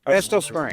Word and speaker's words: Estill Springs: How do you pronounce it? Estill Springs? Estill Springs.